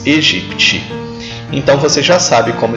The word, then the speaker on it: aegypti: Em latim, a E se pronuncia E. Por isso se diz Egipte. O mesmo não vale para Aedes, simplesmente porque aí o A é prefixo de negação, como em desagradável. Por isso pronuncia-se Aedes aegypti.